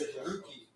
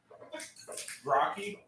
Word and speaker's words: Grookey: think it's Grookey. It's 2 O's, bro. Grocky?